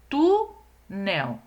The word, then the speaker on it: túnel: Então, olhem aqui, ó, túnel. Então, o tu é a sílaba mais forte. Então, é a penúltima sílaba.